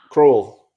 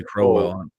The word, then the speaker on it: Croll: And then home, how do you say the last name? Well, Croll. Croll. I always say Crow.